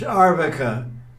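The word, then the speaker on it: अर्भक: Because the word for child is arbaka. So there's no R is not there.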